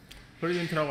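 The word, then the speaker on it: present: 그리고 실은 발음도 바뀝니다. 프레젠트라고 앞에를 쓰게 읽으면 그때는 선물이란 뜻이고, 여기다 쓸 필요가 없겠군요.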